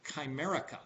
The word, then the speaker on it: Chimerica: not many of you are familiar with it's pronounced Comerica ch I M er I ca that term